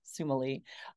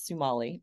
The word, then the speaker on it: Sumalee: And I will say, while you pronounce my name as my family does, Sumalee, but another pronunciation of my name is Sumalee, which is one that I use more in work, but I totally welcome both.